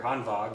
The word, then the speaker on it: Hanwag: This is the Hanwag, or Hanwag if you want to say the German pronunciation.